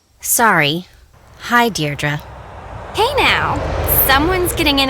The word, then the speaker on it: Deirdre: in it or something hi Dei dear dra I know it's got that tricky second syllable but I figured it out by age two don't give up you'll get there sorry hi dearra hey now someone's getting